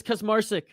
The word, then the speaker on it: Kaczmarczyk: control moves into side control right now does Kus Marik that's how you say his name sorry for mispronouncing it all those times before inside control